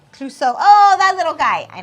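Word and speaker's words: Clouseau: will laugh to your sides hurt and it's pronounced cluso oh that little guy I know who he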